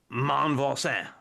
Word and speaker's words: Monvoisin: So if I were to say it before, I would have said "mon Voisin," but that's not how it's said either. And so, but I'll do it without my overdone accent. It's something like Catherine Monvoisin or something.